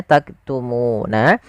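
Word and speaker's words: تكتمون: Lafal nun di sini ada bacaan mad arid di sukun. Yaitu mad yang terjadi disebabkan karena adanya sukun arid yang ada di akhir bacaan kita. Awalnya bacanya taktumu. Nah, karena kita sukun nunnya menjadi sukun arid. Sukul karena waqaf maka muna menjadi taktumun. Nah, di sini munya panjang dulu baru matikan. Nah, pada lafal bacaan nun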